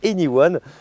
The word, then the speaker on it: e:Ny1: présenter cette fameuse Honda anyone parce que oui ça se prononce anyone vous allez voir il